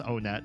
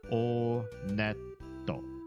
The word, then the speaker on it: Onett: kidding it is pronounced onet I did check the Japanese pronunciation and in Japanese when you go to this first town they pronounce it onetto onetto so oh